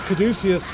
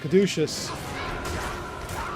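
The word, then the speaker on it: Caduceus: I was going to say a high room, but a kaducius would a that's not how it's pronounced. Kaducious would work just as well.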